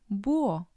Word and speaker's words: búho: The silent letter in Spanish is the letter H. For example, hombre, hombre, huevo, huevo, búho, búho. The H doesn't make a sound, it's just the vowel sound.